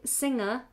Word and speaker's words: singer: silent uh the sing singer the g is silent because it's an NG Singh and so we wouldn't release that g anyway but there are some